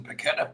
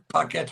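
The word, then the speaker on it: Paquetá: The most frustrating part of yesterday was the Sky commentators, the way they kept pronouncing Paqueta, Paqueta. And it really was annoying to anyone. Have you tweeted this? It was Paqueta.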